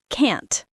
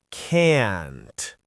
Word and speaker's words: can't: We say the t clearly. Can't. And we make it a little longer. Can't.